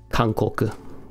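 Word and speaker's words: かんこく: How do you pronounce this? Kankoku.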